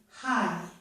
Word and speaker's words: high: G plus H at the end of a word can also be silent. There's no sound at all for these two letters, as in the word high.